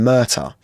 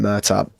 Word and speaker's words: Murtagh: My name's Murtagh. Like an Irish name, Murtagh. And it's GH at the end. It's the same. Like, it's just, doesn't mean anything.